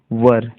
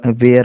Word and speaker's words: were: When they वर, देखिए यहाँ पर जो ये वर्ड है WERE, वर इसका सही प्रोनाउंसिएशन होता है, लेकिन बहुत सारे लोग वेयर पढ़ देते हैं, वेयर। तो इसको वर पढ़ना है आपको, वर, WERE, वर।